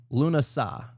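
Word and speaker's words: Lughnasadh: But it is pronounced, I believe, Lunasad or some shit like that. Or actually, no, I looked it up earlier. Lunasad.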